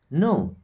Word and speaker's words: know: मैं अब यहां पे के साइलेंट होता है इस क्या पढ़ते हैं नो आई नो मीस मैं जानता हूं दिस मीस आई नो